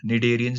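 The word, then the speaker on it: Cnidaria: Coelenterata को हम निडेरियंस भी कह देते हैं, ठीक है, इनका दूसरा नाम है। ओके, सी ना साइलेंट रहता है, निडेरिया कहते हैं इसको, राइट?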